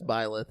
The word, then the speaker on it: Byleth: Ultimate's Fighter Pass, Byleth, has been announced. Blythe, yeah. Byleth. Huh? It's Byleth. No. And I watched the video. It's Byleth.